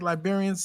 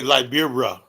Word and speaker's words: Liberia: beautiful country of Liberia did I say that like uh Elvis like liberians say Liberia they say Libera they pronounce it right yeah Liber and they